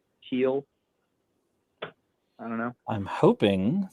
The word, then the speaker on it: Heil: by john heil yeah h-e-i-l i guess that's how you say it heel i don't know i'm